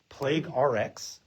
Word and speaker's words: Plague RX: Plague RX or how do you do how spelling it plague in the in the pharmacy world? Do you pronounce an RX in a certain way? I mean, you just say RX prescription. Okay. So, plague prescription.